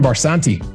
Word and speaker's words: Barsanti: Gives me great pleasure to welcome to today's conversation, Barsanti.